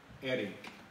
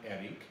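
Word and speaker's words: Héric: So when we went to Eric, H-E-R-I-C, with the accent on the first syllable, so I kept saying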